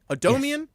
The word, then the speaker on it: Adomian: people it's got great people in it James Adomian I don't know if you know him I love a domain yeah Bernie Sanders yeah of course of course a domian am I saying that right odomian yeah Todd just saying it right yeah oh